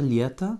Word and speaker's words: лето: Lieta, avec l'accent tonique sur le Y, donc votre O final va se prononcer comme un petit A.